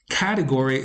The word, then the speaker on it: category: Category is also stressed on the first syllable.